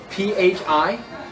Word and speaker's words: Phi: one is is um Phi the Phi and it's pronounced like a pH or an F just put F okay